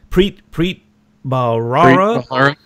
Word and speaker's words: Preet Bharara: Preet Bharara.